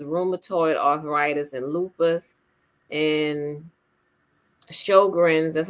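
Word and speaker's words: Sjögren's: And Sjogren's, that's how you pronounce it, Sjogren's syndrome, the mucous membranes and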